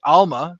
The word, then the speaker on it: almah: I obviously don't speak Hebrew, so it's pronounced different, but Alma, spelled Alma, Almah, and it refers to a young woman or a maiden.